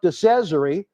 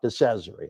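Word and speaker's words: Cesaro: you never know about decessory i'm still learning how to say the name but i think i'm saying it right because he said it rhymes with treasury all right folks it's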